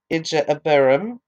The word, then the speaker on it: Ije-abarim: Then they set out from Oboth and camped in Ijeabarim, that's IJE-ABARIM, in the wilderness facing Moab toward the sunrise.